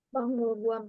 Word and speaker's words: 박물관: Kalau ada giok ketemu miem, giok ketemu miem maka dibacanya ieng. 박물관에 갔어요. 박물관에 갔어요. 네, 좋습니다. 모르는 단어 있어요, 여러분? ada kosakata yang tidak tahu di sini? Bangulguan aja tadi Sam.